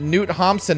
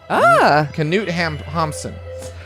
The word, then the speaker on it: Knut Hamsun: I always pronounced it Knut Hamsun, and he wrote a book I liked called Growth of the Soil, and I'm right. Knut Hamsun.